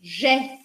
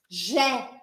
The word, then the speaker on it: j'ai: Aqui também, ó, é o verbo eu tenho, j'ai. Mesma coisa. J'ai. E aqui eu pronuncio bem aberto.